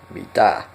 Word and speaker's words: mitä: And also the a sound at the end of Mita, Mita.